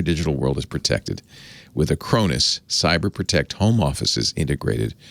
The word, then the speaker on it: Acronis: Somebody said, I'm glad you're doing ads for Acronis because now I know how to pronounce it. I asked him. I've always said Acronis, but I'm glad to know I was right.